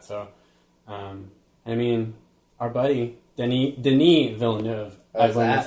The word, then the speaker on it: Denis Villeneuve: So, I mean, our buddy Denis Villeneuve.